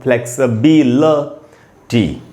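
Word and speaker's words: flexibility: जो भी हो, यहाँ पर ई का साउंड है उसी पर ज़्यादा रुकना है, तो हम बोलेंगे फ्लेक्स बी, और उसके बाद एल के बाद श्व साउंड है आधा, फ्लेक्सिबिलिटी, फ्लेक्सिबिलिटी, ऐसे करके हमको उच्चारण सीखना चाहिए, फ्लेक्सिबिलिटी, फ्लेक्सिबिलिटी।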